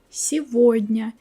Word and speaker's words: сегодня: Sometimes instead of g, we say v. When it happens, you all know such words as его, сегодня. Here you always pronounce g like v.